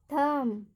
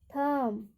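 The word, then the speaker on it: thumb: टी एच यू एम बी, इसको क्या पढ़ेंगे, थम, थम।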